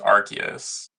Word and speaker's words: Arceus: well it's definitely not arus is because it's pronounced archus okay archus is are sounds kind of weird